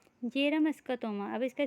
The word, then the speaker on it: Bjerrum: अब तीसरा क्या है, तीसरा का नाम है जेरम स्कोटोमा। अब इसका स्पेलिंग क्या है, BJERRUM।